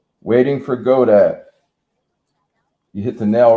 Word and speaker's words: Godot: Waiting for Godot. Waiting for Godot.